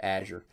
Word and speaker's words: Azure: azure and guess what they don't say it the same way either they call it something different too so that's how I say that word okay Azure so Azure is their